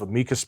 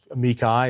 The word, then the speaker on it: amicus: Both of you have had lots of amicus briefs, or amici, is that how it's said?